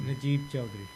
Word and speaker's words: Najeeb Chaudhry: Najeeb Chaudhry.